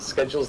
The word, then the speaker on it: schedule: Schedule's the American pronunciation. Yeah. One. One. Oh, I see. I actually prefer the American pronunciation cuz it makes more sense cuz it's got a C in it.